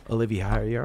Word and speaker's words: Oliveira: Oliveira.